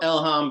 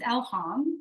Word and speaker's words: Elham: more about that so my birth name is Elam which is the farsy way to pronounce it elham is the Arabic